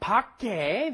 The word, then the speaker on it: 밖에: 밖에, the 쌍기역 at the bottom goes at the bottom, and then you say 에.